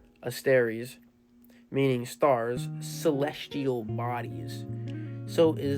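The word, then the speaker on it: ἀστέρες: So the Greek word for stars, pronunciation asteres, meaning stars, celestial bodies.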